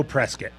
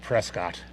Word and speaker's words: Prescott: We do know Prescat. Neither Chris nor I would ever would ever pronounce it Prescott.